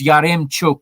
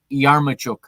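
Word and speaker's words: Yaremchuk: do another maya culpa i have mispronounced his name through the first uh two episodes of this season and i think i mispronounced his name all summer on the miss on the parking the bus podcast it's yarim not yarmachuk so my apologies again to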